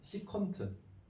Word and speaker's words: SEC: 그 다음에 그냥 SEC 얘는 그냥 시컨트.